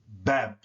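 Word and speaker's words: baab: So you pronounce that bab. It really should be spelled B-A-A-B, but it's interpreted as if it's spelled that way.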